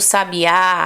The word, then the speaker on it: sabiá: palavra que sabe a né o canto do sabiá aquele pássaro né um sabiá sabiá e se